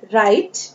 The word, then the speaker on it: write: यहाँ पर हम इसे R से पढ़ेंगे, राइट। W जो है वो साइलेंट लेटर है यहाँ।